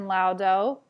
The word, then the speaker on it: laudo: The second one, au, is pronounced like house or mouse, and we'll see it in laudo and out.